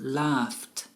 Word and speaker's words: laughed: The GH here is pronounced like an F, so it is laughed.